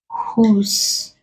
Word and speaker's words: whose: Whose, the W is silent, the H is pronounced.